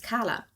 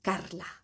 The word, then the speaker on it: Karla: because my name like if you pronounce it in German it's Kala. It has an R in between but I once I once so it's if you would pronounce it Spanish it would be Kla with an R you know spelled with K.